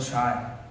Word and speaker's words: chai: Talking about chai. One syllable. Chai.